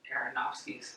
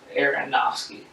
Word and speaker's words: Aronofsky: And this week we'll be discussing Darren Aronofsky's. Aronofsky's. I feel like I'm not saying it right. You're not. Aronofsky.